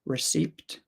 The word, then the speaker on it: receipt: no you don't um receed maybe maybe there's people somewhere that do that but I I have never heard anyone pronounce the p in receipt as far as I know it is always silent okay so let's continue